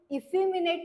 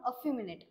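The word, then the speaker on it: effeminate: पासन स्टार्ट होत आहे पण याला आपण इफनेट नाही म्हणू याला म्हणू अफनेट याच प्रोनन्सशन काय अमिनेट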